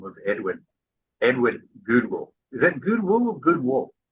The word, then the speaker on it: Gudewill: Is that Goodwill or Goodwill? How do you say it? Pretend it's spelled with two O's. Goodwill.